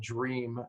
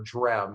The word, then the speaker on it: Dram: a product on here called dream or dram is how they say it and it has